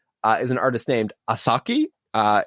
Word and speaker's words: 4s4ki: uh young artist uh is an artist named asaki uh it's spelled 4s4ki okay and she's just doing really